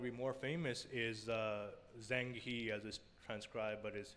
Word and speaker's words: Zheng He: example that would be more famous is uh zheng he as his transcribe but is his is pronounced chang ho who is probably the most famous admiral the